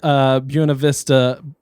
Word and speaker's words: Buena Vista: They went to the South Buena Vista Boulevard.